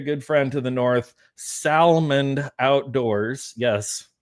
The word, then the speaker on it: Salmond: And my very good friend to the north, Salmond Outdoors. Yes, I pronounced the D in Salmond.